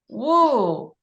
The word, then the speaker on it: Woo: Woo. Woo. Woo. Woo. Woo. Rhymes with you, like me and you.